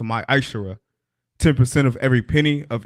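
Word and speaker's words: מעשר: Means tenth in the Hebrew, and it's pronounced my Ishara.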